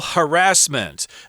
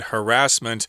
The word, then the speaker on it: harassment: an incident of sexual harassment. We should mention the pronunciation of this word harassment. There are two acceptable pronunciations of this word.